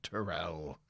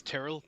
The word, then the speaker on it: Terrell: It was B, Captain Terrell. Just for the record, it's an Irish name and it's Tyrrell, but Americans, they mispronounce things.